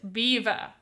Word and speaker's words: Belvoir: So it's spelled Belvoir, but you pronounce it beaver. Like, the animal, beaver.